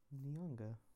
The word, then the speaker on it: Nyong'o: It's pronounced Lupita Nyong'o.